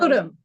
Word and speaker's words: Hotham: Is it Hotham? Shake your head, yes or no. Hotham? She's on. Hodum. Hodum. It is. No. I heard her say No, it's not spelled like it sounds.